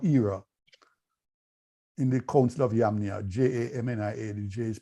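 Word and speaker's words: Jamnia: century of our era in the Council of yamnia j-a-m-n-i-a-dj is pronounced like Hawaii and Paul mentioned this um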